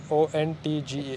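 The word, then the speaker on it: Röntgen: ये देखिए, spelling लिखा हुआ है RONTGEN. It's O.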